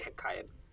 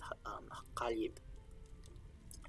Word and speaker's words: Ḥeḳaib: So ḥeqqal yib, which is his name, which we say ḥeqqaib in English, pronunciation of ḥeqqal yib.